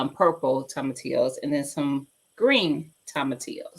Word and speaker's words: tomatillos: I always want to pronounce the L's, y'all. But tomatillos, purple tomatillos, and then some green tomatillos seeds.